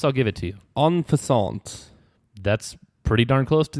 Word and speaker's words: en passant: En passant. That's pretty darn close to the actual pronunciation, and indeed it is the correct answer. En passant is the answer.